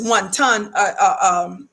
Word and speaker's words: wanton: attorney pronounce it as one ton endangerment even though most of us pronounce it as one endangerment um this is for